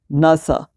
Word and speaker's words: NASA: नासा, नासा को NASA तो नहीं पढ़ते, अगर NASA पढ़ते तो ये हमारे पास एब्रीविएशन होता, लेकिन ये नासा पढ़ने हो रहा है इसलिए हमारे पास एक्रोनिम है, national aeronautics and space administration.